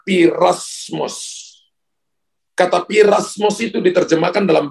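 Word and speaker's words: πειρασμός: Pencobaan yang bertubi-tubi dalam bahasa Ibrani itu dipakai kata piramos, pirasmos. Bapak Ibu tulis. Tulisnya sebenarnya tulisannya P-E-I-R-A-S-M-O-S. P-E-I-R-A-S-M-O-S. Bacanya pirasmos.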